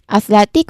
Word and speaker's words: athletic: What's before I? It's let. Okay, let. So, we stress on that athletic again.